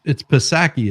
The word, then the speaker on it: Psaki: Like it's Psaki, isn't it? I always Yeah, forget. Jen I really Psaki. I do. think the P is silent.